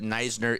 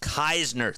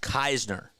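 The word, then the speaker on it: Kiesner: And I want to be annoying, but Neisner is pronounced Keisner. Thank you. Thank you. Please. I like that. I appreciate that so much. Keisner.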